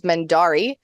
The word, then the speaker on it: Mendarii: On the internet, I am normally known as Mendari, which is spelled Mendarii.